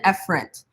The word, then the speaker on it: efferent: arterial now in actuality these terms are pronounced afferent and efferent but how many of